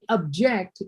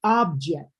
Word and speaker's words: object: It could be object, but only object if it's a verb. Okay, this is a noun. We're talking about an object.